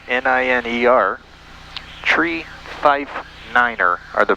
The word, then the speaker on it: niner: t-r-e-e five is spelled f-i-f-e 5 9 is pronounced Niner n-i-n-e-r three five Niner are the proper ways to